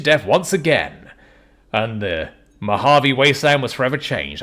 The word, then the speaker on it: Mojave: once again and the Mojave Wasteland was forever changed I was almost going to say maavi there but people don't like it when I say uh when I pronounce things wrong you an old dude